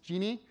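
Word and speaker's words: Djinni: It's pronounced genie.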